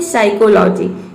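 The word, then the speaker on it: psychology: देखिए यहां पे है साइकोलॉजी इसमें पी जो है वह साइलेंट है इस तरह से यहां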